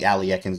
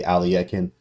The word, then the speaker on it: Alekhine: Okay, so knight to D5, this is first off, they call the Alekhine's defense or Alekhine.